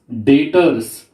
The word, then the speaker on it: debtors: Now next accounting term is debtors. In debtors the B is silent.